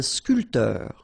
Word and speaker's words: sculpteur: Un sculpteur. Same thing here. This P here is not pronounced.